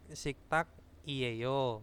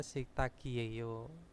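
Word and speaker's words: 식탁이에요: Tulisannya kan siktak iyeyo. Nah, itu bacanya siktagi yeyo.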